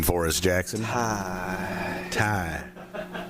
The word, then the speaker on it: Ty: Ty. A little heavy breath at the end.